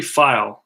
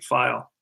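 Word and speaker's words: Pfeil: get it Bobby five Bobby file that's how you pronounce his name PF e IL bobby file and this is his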